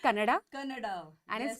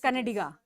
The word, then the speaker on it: Kannada: the way it's Karnataka it's kannada Canada so the a is very important and I think just